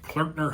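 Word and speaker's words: Klöckner: And in May of 1985, Clerkner Humble Deuts, yes, that's how you pronounce that. Shout out to Kevin on our marketing team for teaching me how to say clerkner.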